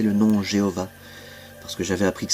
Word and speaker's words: Jéhovah: à prononcer le nom Jéhovah, parce que j'avais appris que ce nom avait été inventé par un moine dominicain au XIIe siècle, qu'en hébreu le son le son J n'existe pas, donc Dieu de toute